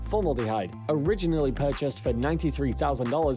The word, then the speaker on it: formaldehyde: combination of alcohol and former formal formaldehyde formaldehyde is how you say that formaldehyde originally purchased for 93